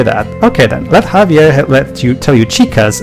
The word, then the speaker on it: Javier: go basically javia is it Javier Javier the the JX is silent basically thanks for the